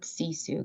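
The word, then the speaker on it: sisu: she loved the word cesu can you tell us about that and I'm sorry if I mispronounced it no that no that's perfect um sissu is a word um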